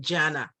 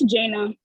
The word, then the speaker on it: Jaina: I see Miriam and Janna or Janna um it's jaina okay all right sorry